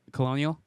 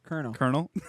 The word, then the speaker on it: colonel: Colonial? Colonel.